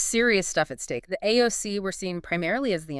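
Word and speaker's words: aos sí: The AOC, that's A-O-S, S-I. How do you say that? Roughly is she, the people of the mounds or the fairy folk, but not like Tinkerbell.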